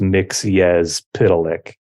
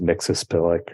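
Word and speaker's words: Mxyzptlk: uh the burn Superman he explains how to pronounce his name and it's mix yes pitolic right on the cartoon it was always something else it was always mix a spillic or something like in the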